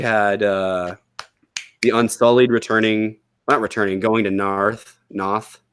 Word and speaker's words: Noth: So, but anyway, we had the Unsullied going to Noth. It's spelled Noth, but everyone has a Britishy accent, so it sounds like Narth.